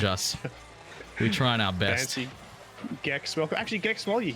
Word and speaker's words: Gex: gex right is it gex must be gex gex doesn't sound right dingo I know you you can't actually talk to me so is it one for gex or two for J hard g j not J hard